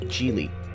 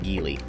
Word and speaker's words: Geely: chinese manufacturer gili yes it's pronounced jeely not gili jili has been making